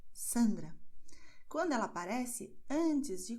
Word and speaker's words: Sandra: E a letra S, observe, ela terá som de S quando ela aparece no começo da palavra, Sandra.